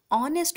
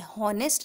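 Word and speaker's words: honest: तब क्या होता है, इसका प्रोनाउंसिएशन ऑनेस्ट होता है, हॉनेस्ट नहीं होता है। इसका एच जो होता है वो साइलेंट रहता है, इसलिए हम इसको ओ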